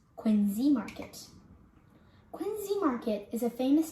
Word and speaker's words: Quincy Market: famous boston landmark you may say it as quincy market but it is actually pronounced quinzee market quincy market is a famous tour spot you